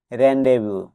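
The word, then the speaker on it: rendezvous: ও আই এস এলিনয় এখানেও এই স্লেটার দিয়ে সাইলেন্ট থাকবে আরই এন ডিজে বিও ইউএস এর প্রনান্সিয়েশন হবে রেন্ডে এর মিনিং হবে পূর্বনির্দিষ্ট স্থান বা মিলনস্থল এস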